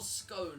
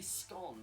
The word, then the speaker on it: scone: Do you pronounce it scone or scone? I usually say scone. How do you pronounce it? I usually say scone. It It rhymes with gone. Scone.